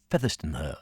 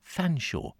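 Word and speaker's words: Featherstonehaugh: a u g h all one word buddy featherston her as I thought it was and then someone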